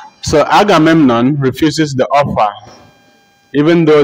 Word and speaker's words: Agamemnon: So Agamemnon refuses the offer, even though the others opt for it. Agamemnon is spelled A-G-A-M-E-M-N-O-N, Agamemnon.